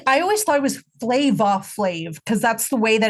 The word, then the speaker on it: Flavor Flav: I'm like, no, motherfucker, his name's you mean Flava flavor Flav. flavor? Yeah, right. It's just pronounced flavor, so it's actually not flav at all.